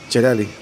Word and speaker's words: Yerli: Yerli. How do you say it in Spanish? Jerali.